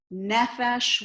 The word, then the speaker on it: nephesh: on the last syllable there are patterns of words like melech nephesh where the stresses at the beginning um if you're having